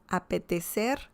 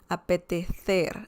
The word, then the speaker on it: apetecer: So remember the C pronunciation, apetecer, apetecer, which is, you know, from Spain, that kind of accent, and that means to feel like.